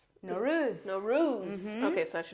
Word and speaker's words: Nowruz: Oh my gosh, I was telling her, I was like, am I pronouncing this wrong? Nowruz.